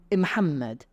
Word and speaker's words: Muhammad: Muhammad will become Imhammed.